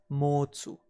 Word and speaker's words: 持つ: To hold or to have is pronounced as motsu, and through inflection it can transform into mochimas or mochimashita, and thus we can easily remember it as too much.